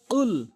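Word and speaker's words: قل: রাহমানির রাহিম কুল কুল কখনোই কুল বলবো না সঠিক উচ্চারণ হচ্ছে কুল ইয়া এখানে আমরা তিন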